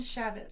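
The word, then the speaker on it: Chaifetz: How do you pronounce his last name? Shavitz.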